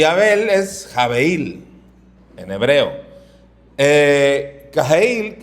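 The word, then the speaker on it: הֶבֶל: Y Abel es jabeil en hebreo.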